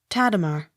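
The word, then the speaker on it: Tadema: d e m a tatama accent on first syllable t o l l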